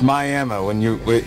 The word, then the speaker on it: Miami: Do they pronounce it like Miami there, or is it Miami? It's Miami.